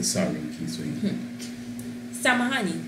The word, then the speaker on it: Samahani: Samahani. Samahani.